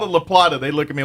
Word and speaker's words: La Plata: Well, it's my La Plata La Plata all over again. By the way, if you don't know that one, there are two towns, one up in northern New Mexico called La Plata, spelled L-A space P-L-A-T-A.